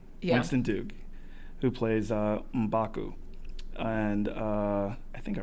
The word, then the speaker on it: M'Baku: Winston Duke, who plays M'Baku. And I think I pronounced that right.